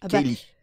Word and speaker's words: Ceilidh: mon nom écrit comme ça, ils vont le prononcer comme ça. Je vais pas commencer à reprendre tout le monde. Kaylee, effectivement, pour le coup.